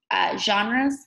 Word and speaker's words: genre: with different types of genres. Say it for me. Genre. Say it for me. Genre. How many syllables do you hear in the word? Genre. Genre. Genre. Two.